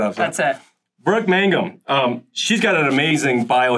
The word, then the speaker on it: Mangum: Okay, without further ado, we have, make sure I got your last name pronounced. Oh, let's see how we do it. Brooke Mangum?